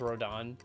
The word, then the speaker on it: Rodin: his name is spelled like Rodin but it's pronounced rodon like I I like the name rodon better honestly for him but like it does